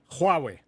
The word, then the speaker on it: Huawei: student, and I said, Jack, how do you pronounce this? Oh, he said, that's Huawei. So it's Huawei.